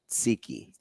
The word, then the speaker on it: tzatziki: Homemade tzatziki sauce that if you put it on the burger. Say it with me slow. Tzatziki. Yep. No, there's no tzatziki. Tzatziki. It's spelled with a T.